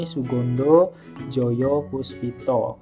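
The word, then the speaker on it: Soegondo Djojopoespito: Kalau sekarang kan sudah hedya jadi Odan itu dibacanya Uya edisi ini Sugondo joyopuspito kemudian di sini ada Suwardi Suryaningrat Oke jawaban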